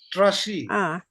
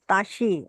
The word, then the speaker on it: trashi: Yes, it's not ta. It's tra. Trashi. Trashi, right? So That's it's trashi, not tashi.